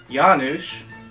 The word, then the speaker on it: Janusz: Yes, my name is Janusz. Some people pronounce it eunuch, but it's not that at all.